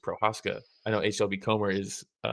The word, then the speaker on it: Procházka: I don't think you say Prochazka. I think it's just Procházka.